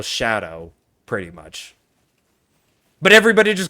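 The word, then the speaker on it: Scadu: But in reality, that's just the old English spelling of shadow. It's pronounced shadow.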